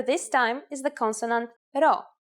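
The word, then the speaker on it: rho: but not close enough you'll just have to remember to pronounce this letter as an r here's the upper case at all it is handwritten like this row and this is what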